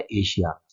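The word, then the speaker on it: Asia: अब बचता है एशिया। एशिया हमारा खुद का कॉन्टिनेंट है, इसमें एक सिंगल एस आ रहा है देखिए, लेकिन फिर भी हम श का उच्चारण कर रहे हैं, ठीक है।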